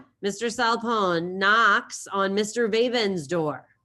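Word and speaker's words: Veven: Vaben's door. Now, Mr. Vaben is spelled V-E-V-E-N, of course.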